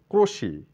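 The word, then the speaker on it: crochet: ক্রসেট মনে হচ্ছে কিন্তু উচ্চারণ করতে হবে ক্রোশি টি এর কোন সাউন্ড নেই ক্রোশি মানে ক্রুশ শিল্প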